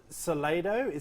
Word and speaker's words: Soledad: but then I also went be invited now Salado is the correct pronunciation Soledad of O'Brien I should say yeah I don't